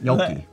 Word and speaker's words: gnocchi: Yeah, like, gnocchi. That's the proper way to say it. Yeah, it probably is, but like it's very... You choke on the G, gnocchi. Gnocchi. That's how you say it.